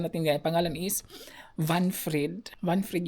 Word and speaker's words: Wanfried: Vanfried yung pangalan. So W is V kasi ang pronunciation nila dito guys.